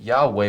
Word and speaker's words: Yahweh: So we have those evidences that point to the fact that Yahweh would be the most accurate way of pronouncing it.